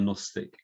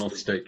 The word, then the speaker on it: Gnostic: Say Gnostic. Gnostic, yeah. I like to pronounce the G, so I remember it's there then when I'm spelling it.